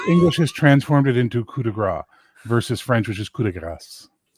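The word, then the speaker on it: coup de grâce: French speaker on the panel in English it's kudagra it's not it's Cass g a c English English has transformed it into kudagra versus French which is Cass as far as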